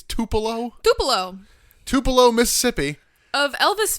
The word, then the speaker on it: Tupelo: 24th 1996 from I how how do you pronounce the city it's Tupelo Tupelo Tupelo Mississippi of Elvis Fame yes and